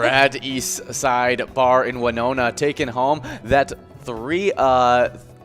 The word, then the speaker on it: Winona: i did it's it's it's one nonna yep winona yeah so i was i was right on